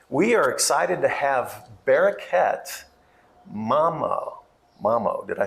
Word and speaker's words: Bereket: And a friend of mine in Kansas City heard about Bereket.